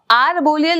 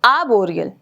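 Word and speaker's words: arboreal: है आब बोरियल animal बच्चे इसको आर बोरियल नहीं बोलेंगे इस आर को साइलेंट कर देते हैं ठीक है तो आबो यल तो अबो यल एनिमल्स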